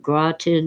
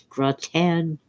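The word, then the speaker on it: gratin: Cuz the French don't pronounce things the way they're spelled. It isn't graten, it's gratan, even though it's spelled with an I.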